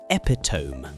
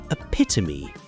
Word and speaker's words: epitome: I had only ever seen it written in books and always read it in my head as epiome rhyming with home. Then one day in college, I heard a classmate say epitome during a discussion, and